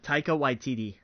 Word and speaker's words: Taika Waititi: How you pronounce his name? I can never do this. Oh yeah, Taika Waititi.